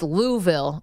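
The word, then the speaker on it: Louisville: I was always curious how do you pronounce the capital of Kentucky is it luville or is it louville he goes well Dave it's it's louville and Letterman goes I'm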